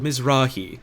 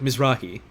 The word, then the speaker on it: Mizrahi: this id card bill emphasis goes on the second syllable mizrahi oh so like mizrahi like that like that